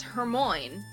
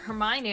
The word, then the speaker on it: Hermione: the harry potter books it was always hermoine and then my first grade teacher who read the second one to us pronounced it her mind and it wasn't until the movies came out and they pronounced it hermione i was all like that makes so much more sense i'm i'm surprised that